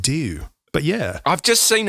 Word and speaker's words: D.E.W.: this is it but they just pronounced it do but yeah I've just